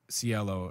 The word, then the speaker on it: cielo: than welcome if you want to call it cello drive get out leave yeah we don't we don't want that yellow yellow sealant it's basically when you you you go to pronounce it cielo and you're like that's wrong no you're right